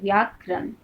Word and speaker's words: व्याकरण: जब हम लोग व्याकरण का उच्चारण करते हैं व्याकरण, क्या आता है, वी, व्याकरण। ठीक है, वी जोड़ आ जोड़ करण से क्या बना है, व्याकरण।